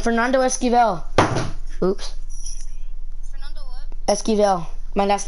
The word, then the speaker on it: Esquivel: Esquivel, my last name. You want me to spell it for you?